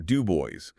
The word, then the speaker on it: Du Bois: He unfailingly insisted on being addressed as Dr. Dubo with the accent heavily on the last syllable. Dub Boys.